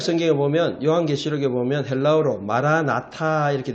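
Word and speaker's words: Maran atha: 우리 신약 성경에 보면 요한계시록에 보면 헬라어로 마라나타 이렇게 돼 있어요. 근데 그건 헬라어고 원래는 마란이란 말이 주님이란 말이에요. 아람어로. 아타가 오소서 이 말이에요. 그래서 정확한 발음은 마란아타예요. 마란아타.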